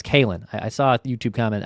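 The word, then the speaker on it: Kaelen: Look at this Keelan Culpepper. I believe it's Kalen. I saw a YouTube comment. I believe it's Kalen. I'm sorry if I've been mispronouncing that.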